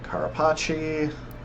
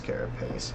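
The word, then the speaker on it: carapace: Basil juice fuse scale talon wing knee bone carachi. I know it's carropace but I like to pronounce things wrong sometimes.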